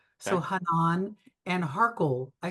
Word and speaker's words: Harchol: kind of like Hanan with the accent on the second syllable. So Okay. Hanan and Harkle.